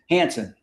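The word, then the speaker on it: Hanson: And then I have from Prager University, David, how do you pronounce his name? Hansen.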